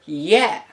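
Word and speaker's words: є: that is never e the letter yeah which is so distinctly ukrainian that it is called the ukrainian yeah this letter was transcribed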